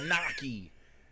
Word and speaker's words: gnocchi: Kind of pasta gnocchi.